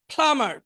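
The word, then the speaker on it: plumber: প্লামার পানির মিস্ত্রি, এখানে বিটা উচ্চারণ হবে না, প্লামার পানির মিস্ত্রি।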